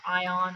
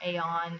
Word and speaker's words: AION: so this is um what's called ion or Aon it just depends on how you want to um pronounce it and what not um I do say um I used to say Aon now I call it ion um this is another